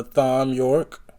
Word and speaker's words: Thom Yorke: the band consists of I'm gonna assume the H is silent Tom York or Thom Yorke um Brothers Johnny Greenwood